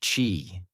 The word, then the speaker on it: qi: At acupuncture's core is the notion of ki, pronouncedq chi, the life force or energy flowing through the body along invisible pathways called meridians.